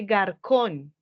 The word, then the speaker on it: garçon: On ajoute cette petite queue au C pour prononcer la C en tant que S.